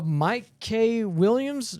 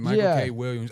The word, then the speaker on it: Michael K. Williams: I think uh Mike K. Williams. Wait. Yeah. Michael, you you saying it right? Michael K. Williams.